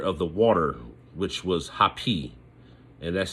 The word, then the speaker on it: Hapi: And then they had the netcher of the water, which was Hapi, and that's spelled H-A-P-I.